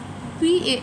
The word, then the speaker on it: pas: And p a s which is pa. The s is silent.